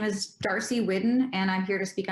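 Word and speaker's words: Whiddon: And it's Whidden? Yes, Whidden, Darcy, W-H-I-D-D-O-N. Thank you. Just want to make sure I say it right.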